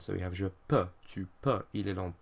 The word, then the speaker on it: peux: EU makes an E sound, so we have je peux, tu peux, il, elle, on peut.